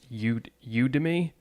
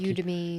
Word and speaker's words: Udemy: pronounce it, but it's Udemy, which is Udemy. Almost like Academy, but Udemy was how I would. And I'm not sure if they're trying to get it to be like Udemy.